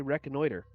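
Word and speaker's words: reconnoitering: you say it yeah now you don't say recognitor ing i added the ing on the end but you do say wrecking order that's one of the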